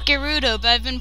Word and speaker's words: Gerudo: of peace ganondorf victor the gerudo apparently it's pronounced gerudo but i've been pronouncing it gerudo for like ridiculously long time so that's that's just i don't know i'm trying to get used to saying gerudo rather than gerudo he obtained the triforce from